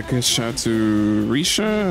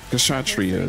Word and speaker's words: Kshatriya: Not Keyblade, the Kishatsu Risha? How would you pronounce that damn word? Kshatriya, there we go.